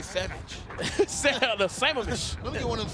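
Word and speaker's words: Sammamish: how do you pronounce the city he's from? 36. 36. I'm gonna give it a try. I'm gonna say Samamish. Yeah, it's Samamish. Samamish. It's Samamish, for sure.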